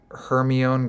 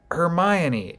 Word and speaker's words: Hermione: of the people uh if you read Harry Potter first might have seen Heron Granger a hundred times on the page before you ever watched the movie and went Hermione of course it's Hermione right so not that that